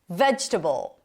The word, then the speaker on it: vegetable: Vegetable. Primary stress is on the first syllable. Not vegetable. Vegetable.